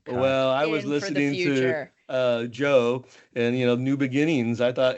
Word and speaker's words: Djo: So, and Joe is spelled DJO, I think, if I remember correctly.